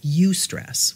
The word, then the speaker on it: eustress: then there's what's called eustress which is actually spelled e-u-s-t-r-e-s-s eu stress so that is the stress that's good for you that's how i remember it but it's not how it's spelled it's spelled e-u-s-t-r-e-s-s but